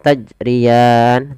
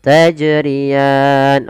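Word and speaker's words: تَجْرِيَانِ: yaitu dia tidak mantul tidak mantul itu kesalahan misalnya tajrian tidak mantul yang kedua menambah Hamzah salahnya yaitu tajrian Nah ini salah juga bagaimana yang betul tajrian oke kita ulangi Fima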